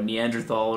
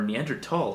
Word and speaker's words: Neanderthal: as a reactionary or a Neanderthal or whatever it is, or Neanderthal if you want to pronounce it correctly.